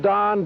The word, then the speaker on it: Don: They left the YMCA, and they called themselves the Dons. There were several names chosen, the Vaqueros, the Phoenicians, and so forth, but the word Don, D-O-N, more properly pronounced in Spanish, Don, was the name chosen.